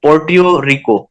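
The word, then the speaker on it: Puerto Rico: पोर्ट योको इसका name थोड़ा सा डिफिकल्ट है स्पेलिंग इसके है पी यू ई आर टी ओ आर आई सी ओ पोर्ट रिको पोर्ट रिको इसको यं पढ़ेंगे और उसके बाद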